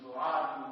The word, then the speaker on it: سعاد: تاریخ میں سعاد لکھا۔ خیر زیادہ تر بزرگ لوگوں کا یہی ہے، تخفیف کے ساتھ سعاد۔ وہ روایت کرتے ہیں